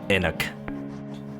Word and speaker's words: Enoch: I've heard it pronounced many different ways. I remember in church, the priest used to call it Enoch.